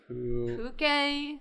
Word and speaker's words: Pukei-Pukei: Pukei.